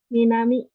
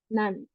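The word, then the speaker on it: 南: Minami yang artinya selatan ya. Minami, cara bacanya ada dua. Ada Minami, ada Nan ya.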